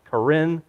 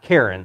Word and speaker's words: Karen: story of the Karin I believe it's pronounced Karin not Karen so I'm not going